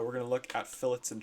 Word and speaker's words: fillet: So the correct pronunciation is fillet and chamfer. I hear a lot of people in, especially lower years, call these like a fillet and a chamfer and all these kind of wacky names.